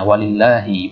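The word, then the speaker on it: ولله: Husna di dalam Vatikan penulisannya walillahi bacanya walillahi kalau seperti ini keadaan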